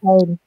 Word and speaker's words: Teil: Tile. Teil. So you can say tile, but I think when we talk about salary, we call it untile, but tile is still fine now. Anteil. So tile is also or untile, doesn't matter.